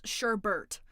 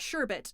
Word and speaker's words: Sherbert: Also, to everyone trying to correct me, his name is Sherbert. It's not Sherbet. He doesn't spell it Sherbet. He spells it Sherbert.